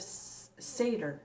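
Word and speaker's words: seiðr: norse traditions of scandinavia comes the sorcery of seder that's how you say it the practice of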